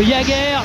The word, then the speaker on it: Jager: de Jager c'est la bonne prononciation Eric on a vérifié c'est comme ça oh la balle qui